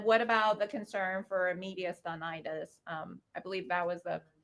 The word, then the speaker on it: mediastinitis: And then what about the concern for mediastinitis? I believe that was the correct pronunciation.